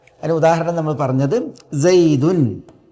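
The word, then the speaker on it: زيدٌ: ഉച്ചാരണത്തിൽ ലാഹത്തൻ അത് എഴുത്തായിട്ടല്ല എഴുത്തിൽ ഈസുക്കൂനായ നൂൻ തെളിഞ്ഞു വരില്ല പക്ഷേ ഉച്ചാരണത്തിൽ വരും അതിന ഉദാഹരണം നമ്മൾ പറഞ്ഞത് സൈദുൻ സൈദുൻ ഇവിടെ സൈദുൻ എന്നതിൽ നമ്മൾ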